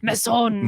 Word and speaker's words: Masson: No, yeah, you don't have to say it like it's French. Like, yeah, you got to say it like it's French. Come on. Masson. Masson.